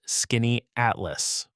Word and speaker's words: Skaneateles: And yes, it's pronounced skinny atlas, which trips up almost everyone the very first time they try saying it out loud.